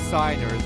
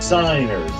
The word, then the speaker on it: signers: these days yes cygnus I know it's signers but my friends can't say I blame you excellent by the way those are it's pronounced signers now the first duel the fortune cup